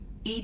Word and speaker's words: EDI: are you named Ed Ed is the phonetic pronunciation of Eed I that is an acronym for enhanced defense intelligence where are you my